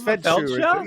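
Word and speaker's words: Feldshuh: Also, Tova Fedsha, is that how you say her name? The fabulous Broadway artist. Oh, Tova. It's a fabulous name, right? Yes, it's Fedsha.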